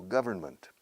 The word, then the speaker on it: government: Goal, gobierno, government. Government. Government. Con un N ahí en medio. Sin embargo, en plena batalla decimos government. Nos saltamos la N. Government, pero la M no.